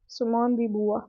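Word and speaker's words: Simone de Beauvoir: सिमोन दी बुआ, ये इसकी प्रोनाउंसिएशन, तो इसको हम सिमोन ही बुलाएंगे।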